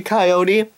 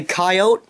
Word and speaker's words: coyote: pasteurizing phosphorus phosphorus pansy you say coyote i say coyote i say kawati what what do i even say there's like three different pronunciations the word doesn't even fit any of them hand me the testimonial